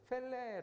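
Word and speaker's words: פֶּלֶא: 그쵸 자기 모자라는 히브리어는 제 펠레 라는 단어입니다 펠레 2 텔넷 예전의 그 브라질 아주 축구 유학 유명한 선수 이름이 펠레 이었는데 발음이 비슷합니다 펠렛 텔레 가 기묘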